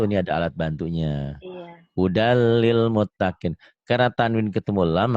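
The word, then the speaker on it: هدًى للمتقين: Ditulisnya, dibacanya hudal. Kenapa yo?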